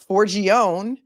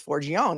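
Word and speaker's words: Forgione: pronounce it that way forgone f o r g i o n e is forgone it's not forg on E unless it ends in an I so I'm gonna say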